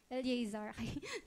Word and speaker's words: Eliezer: Kasi iba yung word, bigkas sa Eleazar, E-A yun, Eleazar. Pag Eliezer.